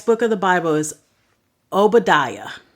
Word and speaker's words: Obadiah: oos the next book of the Bible is Obadiah it's o b a d i a a